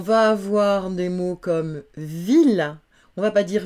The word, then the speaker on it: ville: On va avoir des mots comme ville, on va pas dire ville, on va dire ville.